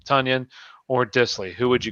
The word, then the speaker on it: Tonyan: question so it's dissley or ton or not tonyan it's tanyan that's that's how you say his name tanyan or dissley who would you go with ryan